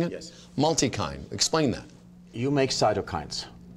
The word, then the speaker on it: Multikine: Is that how I'm pronouncing it? Yes. Multikine.